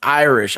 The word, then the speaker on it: Iris: It's pronounced Irish, I believe, but it's spelled for me Iris.